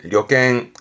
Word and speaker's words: 旅券: 발음은 료갱, 료갱.